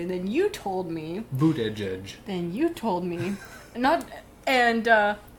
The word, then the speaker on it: Buttigieg: It's called Buttigieg. Okay. That's how you pronounce his name, Buttigieg. But when you look at it, you see butt guy.